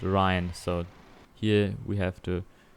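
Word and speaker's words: Rhine: what is it um I listen to the pronunciation and it's called Ryan so here we have to Ry a very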